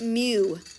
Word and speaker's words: mu: He's he's he's called he's pronounced mu is what he's pronounced, right?